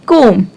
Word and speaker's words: comb: The word is comb. So we never pronounce B.